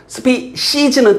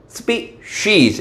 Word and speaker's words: species: 뭐 이런 것도 사소한 건데 species 틀린 발음 spees 이런 건 사소한 건데 정확히 알아두세요. 자 적은 수의 어떤 종 중에 하나입니다.